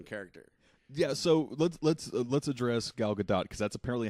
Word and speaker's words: Gadot: So let's address Gal Gadot because that's apparently how you actually pronounce her name.